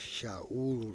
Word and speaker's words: Saul: It goes, “And Saul …” his name is Shaul.